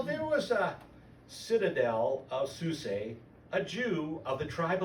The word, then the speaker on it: Susa: You know, you guys are looking at that word, you're going, oh, it's Susa. I think the A is pronounced long, so it's Susa.